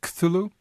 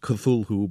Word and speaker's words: Cthulhu: It looks as if it should be pronounced Cthulhu, but he maintained in a letter written much later that it's really two syllables, and the first one is sort of coughed or barked out.